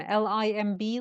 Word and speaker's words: limb: correct what what did you say I said limb l i m b limb yes can I say that my arm